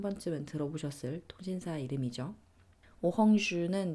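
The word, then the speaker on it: Orange: 번쯤은 들어보셨을 통신사 이름이죠 오주는 이제 오렌지 네를 슷 똑같이 쓰는데 이제 발음은 불어로 오주 가 되는 거고요 어 이야기를 좀 더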